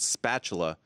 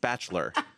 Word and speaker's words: spatula: prove to him that the word spatula was not pronounced spatchler, because he thought his entire life people had been saying it incorrectly, because because he was